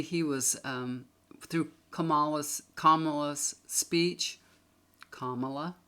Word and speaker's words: Kamala: children come out and teach us how to say her name Kamala commala and they call her